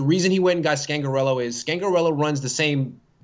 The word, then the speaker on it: Scangarello: I think it's pronounced Rich Scangarello. Did I say that right? Scangarello? I think it's Scangarello. I think it's a hard G, but either way, Scangarello.